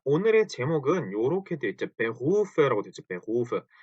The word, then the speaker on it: Beruf: 자, 요거 가지고 발음을 되게 좀 힘들어하세요. 왜냐하면 요 독일어의 R 발음이 때문인데요. 이거를 어 일단 원형은 Beruf죠. Beruf 요렇게 써 놓고 나서 이거를 읽어 보세요. 그럼 Beruf 그 우리말로 치면 Beruf 정도 되겠죠. 요 루 때문에 많이들 어려워하시는 거예요. 근데 이걸 정확히 읽으면 Beruf거든요.